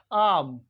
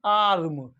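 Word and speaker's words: arm: में ए आर एम आर्म आर्म आर का sound निकल रहा है अमेरिकन इंग्लिश में ए आर एम आर्म आर्म और ब्रिटिश इंग्लिश में आर का साउंड नहीं निकल रहा है आई होप आपके समझ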